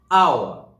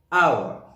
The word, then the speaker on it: hour: Whereas, where H is indirectly pronounced, for example, H is silent on a word. For example, hour, hour, honor, honest.